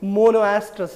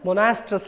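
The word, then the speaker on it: monoestrous: in a particular season we can simply call it monoastrus animal sometime it is also called as monastrous animal o is silent in that case so let's go back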